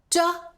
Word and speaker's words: 着: 第一个读音这，有 3 个用法。